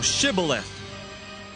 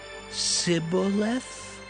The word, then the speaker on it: Shibboleth: Then said they unto him, Say now, Shibboleth. And he said, Sibboleth? For he could not frame to pronounce it right.